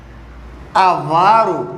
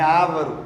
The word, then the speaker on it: avaro: Avaro, não é ávaro, de avareza, pão duro.